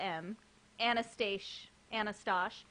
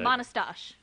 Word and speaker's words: Manastash: Okay, so I'm going to say it without the M. Anastash. Okay. Manastash. Manastash Gardens. If So you take big the M shout off, out to it's less Manastash Manastash.